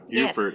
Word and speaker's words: Beaufort: savannah georgia up to beaufort south carolina beaufort as it's pronounced in south carolina right and at the